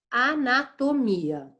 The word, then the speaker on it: anatomia: Então, a gente vai ter anatomia. Anatomia, anatomia, anatomia. Eu tenho um mi com um som muito forte aí. Anatomia. O mi é inclusive a sílaba tônica de anatomia.